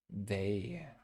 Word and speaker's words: they: They. Okay. They. Okay. And so it's just the EY right there on the end, the A sound, they. Okay. They. Okay. The long A sound at the end.